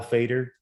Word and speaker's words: Feder: Fader, HALFEDER. You'll find me. Of course, email h.fader at Murphy Business. Fader as a radio fader, but spelled with an E, FEDER.